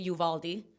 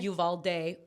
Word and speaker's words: Uvalde: Porque había gente que en Texas, en Texas hay mucha gente que le dice Yuvaldi. Ah, okay. Yuvalde, Uvalde. Como que habían muchas pronunciaciones y me pidieron que